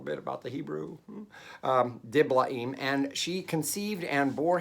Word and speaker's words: Diblaim: took gomer daughter of diblaim remember there are no diphthongs in hebrew although i'll say in like that sometimes but just gives me